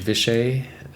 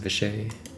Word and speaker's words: Vishay: All right, VSH Vishay is how you pronounce it, Vishay.